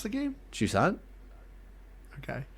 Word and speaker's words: Jusant: Jusant. Okay. It sounded like you were saying like juice aunt. Juice aunt. No, it's juicy it's aunt.